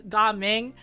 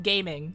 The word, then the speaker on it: Gaming: then we have gaming I know it's spelled gaming but it's ging but for the sake of comedic purposes I'm going to call him gaming so uh yeah uh